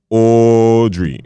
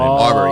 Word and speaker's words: Arbery: Fam, Ahmaud Aubrey. Forgot how to say his last name. How do you say his last name? Arbery. Aubrey, Ahmaud yeah? Arbery.